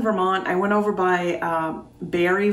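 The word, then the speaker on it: Barre: i went over by barry vermont b-a-r-r-e i believe is how you pronounce it and in the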